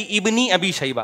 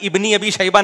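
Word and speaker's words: ابن أبي شيبة: लफ्ज आ गया तो यह अलिफ साइलेंट हो जाएगा पढ़ा नहीं जाएगा कहीं लिखा जाता है कहीं लिखा भी नहीं जाता लेकिन पढ़ा नहीं जाता तो ऐसे ही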